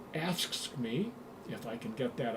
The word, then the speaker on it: AFSCME: He worked for the American Federation of State, County, and Municipal Employees, pronounced AFSCME, if I can get that out right.